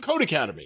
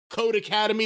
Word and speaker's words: Codecademy: for academy and it's pronounced code academy the same way it would be if it was two words and the e is